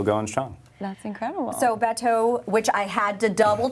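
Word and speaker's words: Bateau: restaurant and still going strong that's incredible so Beto which I had to double check on the pronunciation because I don't speak French but it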